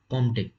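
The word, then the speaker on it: Comte: आप इसको कॉम्टे बोलोगे, पी साइलेंट है, कॉम्टे, ठीक है ना।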